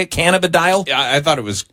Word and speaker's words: cannabidiol: the dial is that how you say it cannabidiol yeah I thought it was Kent cannabidiol I